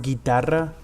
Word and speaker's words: guitarra: It's so in Spanish, if a U is next to a G or a Q, it's supposed to be silent. So for example, the word guitarra is spelled G-U-I for guitarra. So you don't say the U.